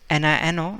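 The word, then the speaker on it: niño: a um example that this one uh it's nino and it it means little child in spanish so we pronounce that nino see no just you need to add that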